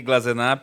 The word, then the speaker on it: Glasenapp: Pronunciou muito bem meu sobrenome, né? Muito difícil mesmo. Glazenap.